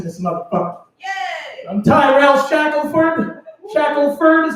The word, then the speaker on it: Shackelford: I'm Tyrell Shackelford. Shackelford is how white people say it. Shackelford is how it's spelled. So that's the correct way to say it.